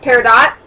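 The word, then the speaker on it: peridot: to the Earth's surface by lava I'm probably mispronouncing everything and I apologize it's paradot okay thanks a corundum or aluminum oxide is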